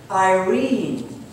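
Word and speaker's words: εἰρήνη: Do you know how the word peace is spelled in the Greek language? E-I-R-E-N-E. Pronounced Irene.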